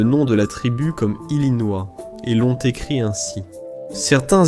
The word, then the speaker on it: Illinois: En 1818, le Congrès a conservé l'orthographe française du nom, mais changé sa prononciation. Au lieu de prononcer Illinois, ils ont choisi Illinois.